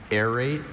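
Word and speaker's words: aerate: So he bought a kitchen device that will airate his water for him. Airate. Airate. Are there any alternate pronunciations? Two small variants. Air rate. Airate.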